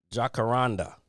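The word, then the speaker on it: Jacaranda: I looked it up too how to say it the other day. Jakaranda. Jakaranda. That's how you say it.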